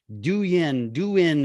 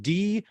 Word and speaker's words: Douyin: They have their own platform called Douyin, however you want to pronounce it, Douyin.